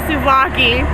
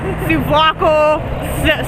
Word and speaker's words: souvlaki: this whole entire trip, Sarah has been calling it souvlako, Slovaki, Slavical, who fucking knows? Souvlaki, like Souvlaki, just anything. But the most popular one is Slovaki, which I'm convinced I'm saying it right.